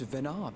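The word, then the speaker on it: Venat: ever heard of this venard before hey I was correct I assumed silent T cuz French names in this game and Silent T's I was correct for a certainty EMT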